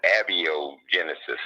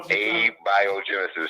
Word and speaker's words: abiogenesis: She was calling abioenesis. Yeah, I heard it. I don't know. Abiogenesis.